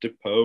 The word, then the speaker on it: Depau: here we are back with another episode and depot which i hopefully i remember to pronounce that correctly uh you want to introduce yourself for everybody uh sure my name's dapo originally from bountiful utah like north salt